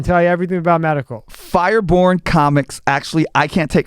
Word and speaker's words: Firebourne: And the name of name of the clan in our game was Firebourne, and it's B-O-U-R-N. That's how it's spelled. Like Born Identity.